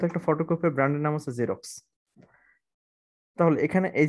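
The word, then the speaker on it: Xerox: ওকে আরেকটা রয়েছে ধরো এক্স দিয়ে যেমন হচ্ছে জেরক্স কিসের নাম একটা বিশ্ববিখ্যাত ফটোকপিয়ার ব্র্যান্ড ওকে খুব বিখ্যাত একটা ফটোকপিয়ার ব্র্যান্ডের নাম হচ্ছে জেরক্স তাহলে এখানে এই যে জেড যা সাউন্ড এসেছে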